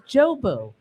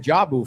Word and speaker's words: Jobu: It's Jobu. I was saying Jabu Fest.